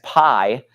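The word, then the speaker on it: π: have the letter P you probably again learned this in math as Pi but in Greek it's pronounced P okay let me draw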